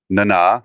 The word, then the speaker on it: Nana: It's pronounced Nana, like Mama Nana, which she has a Instagram that does.